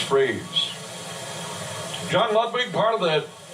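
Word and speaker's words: Frias: a strike over to freeze f r i i pronounced freeze John lwig part of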